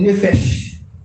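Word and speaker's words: nephesh: Il dit nefesh.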